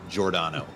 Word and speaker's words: Giordano: It's just one of those names with a funky pronunciation, kind of like Giordano. It doesn't look like how it's said, but it's Giordano.